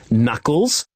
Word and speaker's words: knuckles: Drag 4 words with a silent K onto the picture. Yes, knuckles, no, knife, and new all have a silent K.